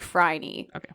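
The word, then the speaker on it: Phryne: these letters don't exist I listened to three pronunciations and they were all like fry and even one was like not that I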